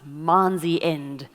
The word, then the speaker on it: month end: Month end, pronounced Manzi end, is a good time for trade.